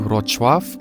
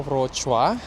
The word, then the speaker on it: Wrocław: Selamat datang di Wrocław.